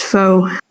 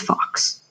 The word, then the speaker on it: Faux: um and he says which i know is typically pronounced foe but somewhere and family lying it's just it's fox they they kind of